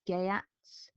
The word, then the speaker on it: Geats: I said geats, so I think some places I've read that it's gayats. So you say that as an A sound and then an A sound, but it's up to you how you pronounce it.